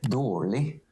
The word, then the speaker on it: dårlig: Rolig, kjølig, bord, brød, det, dårlig. Dårlig. So how? Oh, for adjectives, you don't pronounce the ig, and for nouns, you don't say the d or t sound.